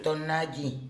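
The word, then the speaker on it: tonalli: Tonali se escribe. Tonayi. Tonayi. Tonayi.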